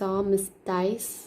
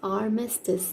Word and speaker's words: armistice: If I have to read this word, I will read this as armistice, but it is wrong. It is armistice.